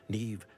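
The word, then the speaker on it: Niamh: Allow me to introduce former Hogwarts head mistress, Nev Fitzgerald. Neve? Huh? But spelled with an M.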